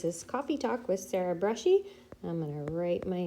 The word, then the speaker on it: Bruschi: this is coffee talk with Sarah Brushy I'm going to write my name right here so that you can see it and you can know where to find me um Sarah and Brushy is spelled like this and you can reach me